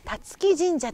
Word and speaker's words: 龍城神社: あるのが辰木神社と言います。龍の城と書いて辰木って読むんですね。